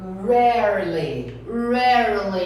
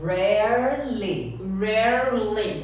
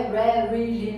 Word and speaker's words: rarely: Então a pronúncia seldom, rarely. Então aqui, gente, são só 2 sílabas. Rarely. Não é rarely, não. Rarely. Essa palavra, ela é capciosa.